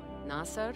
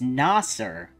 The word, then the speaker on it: Nasser: Nasser, keep up with your homework. Don't misbehave just because we are gone. Oh, it's Nasser. I've been pronouncing this dude's name wrong for, like, 1.5 games.